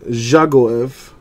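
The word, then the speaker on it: Dzagoev: bollocks but whatever Alan juggle EV the D is silent for Russia for Mother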